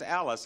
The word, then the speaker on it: Allis: I got a letter from Harriet Onnerheim, who lives in West Allis, I believe it's pronounced, A-L-L-I-S, Wisconsin.